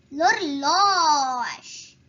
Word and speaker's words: l'horloge: But however, H is silent. So we move on to the next letter, which is O. So O is a vowel. It's supposed to be L apostrophe. L'horloge.